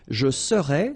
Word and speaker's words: serais: Je serais, same thing here, final S not pronounced.